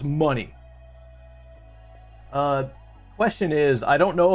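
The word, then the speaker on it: Munny: Sharka12 money, and it's spelled exactly like how it is on the screen here, if you can read it. M-U-N-N-Y. Like Kingdom Hearts or whatever. It's money.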